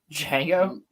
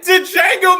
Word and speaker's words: Django: them Django's great man Jango Django Unchained Great the D is silent I've been saying it wrong my whole life yes it's D Jango I've said did Jango my whole life no